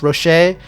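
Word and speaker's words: Rhajat: I know it's Rocher. I am pronouncing as Rasha, but yeah.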